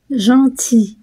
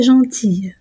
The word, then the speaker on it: gentil: Donc IL se prononce I, comme dans un fusil et non pas un fusil, gentil et non pas gentille, pour le masculin de gentil.